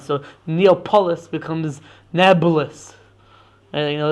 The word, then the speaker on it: Nablus: And then that sort of became corrupted into nabulus because the um the Arabs can't pronounce the P sound, right? So Arabs confuse the P and the B sound. So Neopololis becomes Nabulis.